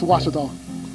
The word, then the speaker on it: Ouachita: really it's was was was how would you pronounce it was it's was Baptist University get it right it's was people it's wash wash welcome back